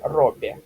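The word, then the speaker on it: robię: Это у нас будет просто э, то есть в конце слово оно у нас произносится просто как э, да? То есть поскольку у нас тут рядом и, то оно смягчается и получается роби.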